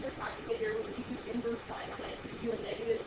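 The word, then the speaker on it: sin⁻¹: Inverse sine is how you say that. You don't say sine negative 1. You say sine negative 1 a lot. But it's really read as inverse sine.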